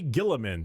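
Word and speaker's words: Guilliman: Primar Gilamin.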